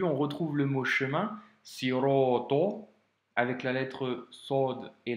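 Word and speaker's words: صراط: Donc, tu vois, au début, on retrouve le mot chemin, siroto, avec la lettre sod et la lettre to, qui sont à prononcer avec emphase, hein, tu te souviens. C'est pas sirete, c'est siroto.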